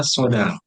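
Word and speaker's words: 相談: Ini cara bacanya sodang.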